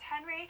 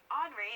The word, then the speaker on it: Henri: Sorry for last week, I was pronouncing it as Henry, but this is actually pronounced as Henri, and it is a tropical storm, 70 miles